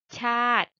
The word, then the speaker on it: ชาติ: สี แดง หมาย ถึง ชาติ อ่าน ตาม ครู ค่ะ สี แดง หมาย ถึง ชาติ จะ ไม่ อ่าน ว่า ชา ติ นะ คะ จำ ไว้ สี แดง